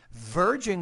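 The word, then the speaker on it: verging: people virging on extinction virging pronounce that V with a little more vibration virging on extinction languages like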